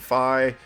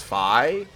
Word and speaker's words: Fi: before the mission starts says it's fi like she said fi so I'm assuming it is f you know because that's an official pronunciation by Nintendo excuse me gross um